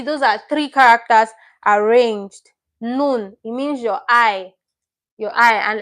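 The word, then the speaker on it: 눈: your I in Korean, which is nun, nun, your N, then your U, then your N. So you can see those are three characters arranged. Nun, it means your eye, and it also means snow as well.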